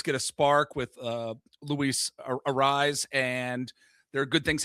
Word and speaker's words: Arraez: Arraez Arraez Oh, it's not arise.